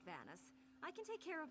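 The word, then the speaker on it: Vanus: She says Venus, but it's Vanis.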